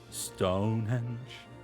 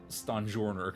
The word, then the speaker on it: Stonjourner: for the British um I'm absolutely pronouncing his name incorrectly I think it's supposed to be a pun on Sojourner which is another word that I read and never pronounce sorry everyone so I